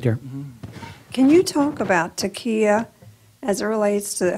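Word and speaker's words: Taqiyya: Can you talk about Taqiya as it relates to how the author Najib Mahfouz developed it in his books?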